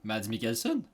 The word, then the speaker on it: Mads Mikkelsen: à prononcer son nom parce que Matt le prononce mieux que moi. Son nom, c'est... Mads Mikkelsen.